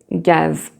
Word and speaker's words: gaz: So you see here, the Z is never pronounced, but you can have, for example, the word gaz, gaz. And there the Z is pronounced.